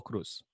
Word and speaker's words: Cruz: Cruz. Cruz. Yeah, it's not a Z. It's the Cruz is an S sound in Spanish, and the that